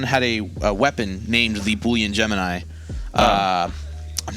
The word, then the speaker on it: Boolean Gemini: It's Boolean Gemini. Boolean Gemini. I'm surprised you pronounced that correctly on the first time because I would have totally butchered it.